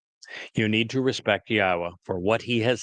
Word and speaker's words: Yahowah: Al Benim Yahwa which is the proper pronunciation of the name of our Eloha God